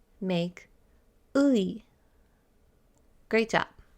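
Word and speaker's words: 의: Let's break down his name. Luigi. Say his name slowly. Luigi. Now let's take out G. Louis. Ui. Ui. This is pronounced ui.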